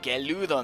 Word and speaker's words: Gerudo: And these sand guys, for those of you guys who have seen the Ocarina of Time playthrough, these are the Geld Men, pronounced in Japanese as the Geludo Men.